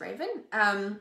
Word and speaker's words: Raven: Raven, it's literally pronounced Raven.